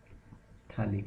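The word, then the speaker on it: phthalic: it is called as colic acid yes P is silent in this and if you are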